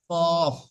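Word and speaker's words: ق: 4 নম্বর মাখরাজে আছে, আহ 4 নম্বর মাখরাজ জিভের গোড়া এবং তার বরাবর উপরের তালু সাথে লাগিয়ে উচ্চারিত হয় 2 নক্তাওয়ালা কফ।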